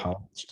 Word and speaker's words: Politsch: Politsch. Is that how you say it? Yep. Politsch, yep.